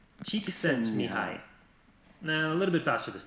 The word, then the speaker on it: Csikszentmihalyi: Et un petit rappel pour savoir comment se prononce déjà... Mihai, Csikszentmihalyi. A little bit faster this time. Mihai, Csikszentmihalyi.